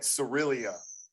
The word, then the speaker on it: Cereal: trying this is just planet cyrillia it's spelled like cereal yeah i call him